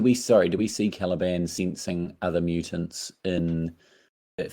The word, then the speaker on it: Caliban: but I need a little I got his name wrong in my notes I didn't put caliban um I said I need some Calabash background good so caliban is a more lock